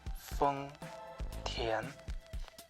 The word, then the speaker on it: 丰田: And that's how you nail the Chinese name for Toyota, Feng Tian.